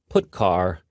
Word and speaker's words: putchar: They are pronounced: printf, putchar, and puts.